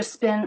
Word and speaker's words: spin: Careful with the P not to put too much air in it. Some people want to put a lot of air in, making almost an extra H sound. Spin, spin. It's just spin.